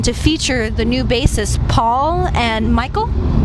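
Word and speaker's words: Paweł: It is the first album to feature the new bassists Paul and Michael. Am I saying it right? Powell and Michael? Yeah.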